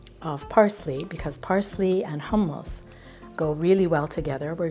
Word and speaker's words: hummus: That is a plate of hummus, tahini, not hummus, it's hummus. That's the way it's pronounced.